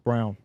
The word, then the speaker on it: Braun: I thought it was Braun. It's Brown. Okay, Christian Brown. Right? Yeah, it is. It throws me off too because 'Cause it's it's- phonetically not spelled It's like that. Braun when you look at it.